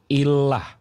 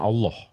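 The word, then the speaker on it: إله: enggak bisa baca Illah ini bacanya nih Illah bukan Allah Illah jadi Kristen Arab sebelum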